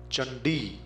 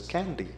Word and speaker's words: Chandi: a completely different thing chandi the name of Davi c a n d i you are bound to pronounce it as candy which is totally different from chandi Chakra becomes kakra gacha